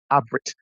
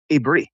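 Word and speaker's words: עברית: It's Ayin Bet Rish Yotaf pronounces Avrit. Some people pronounce Ibre, but there's no Yud at the end.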